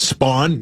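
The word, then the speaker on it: Span: By the way, S P A N. That's how you spell that. Spawn.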